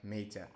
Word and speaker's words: mater: The pia mater. You might have had different pronunciation here, so it's a mater with a single T and not matter with double T.